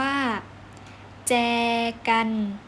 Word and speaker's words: แจกัน: นะ คะ คำ ว่า แจกัน จอ + สระแอ อ่าน ว่า 7 กลาย เป็น แจกัน อีก ครั้ง นะ คะ